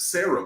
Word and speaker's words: SCERA: Sarah High School, they used to nickname it US Sarah because all those guys, because it's spelled SCERA, but they would always